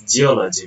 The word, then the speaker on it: geology: The third is geology. The derived form analyzed as geology because here geo is from the Greek language. The suffix logy or y in English attracts stress to the preceding syllable all, demonstrating a typical stress attracting pattern in academic vocabulary.